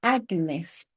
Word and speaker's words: Agnes: En latín, en Inés se pronuncia Agnes y Santa Inés es una de las mártires más veneradas de la Iglesia primitiva.